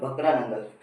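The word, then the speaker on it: भाखड़ा नंगल: अभी एक एग्जांपल लेते हैं, द भकरा नंगल। नाम इंपॉर्टेंट है, या तो मेरी प्रोनाउंसिएशन करा दो तो ये लो, मैं स्पेलिंग भी लिख देता हूँ, भकरा नंगल, ठीक है।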